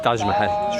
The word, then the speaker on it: Taj Mahal: Telaffuzu öyle, Taj Mahal.